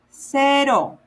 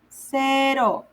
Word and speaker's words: cero: So let's start with 0, cero, 0, cero, C-E-R-O.